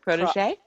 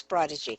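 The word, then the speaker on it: protégé: one of the pro, I can never pronounce the word Protege? protege. It becomes prodigy.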